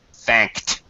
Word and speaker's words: thanked: k no voice uh this Ed is gonna sound like a t thanked thanked yeah okay and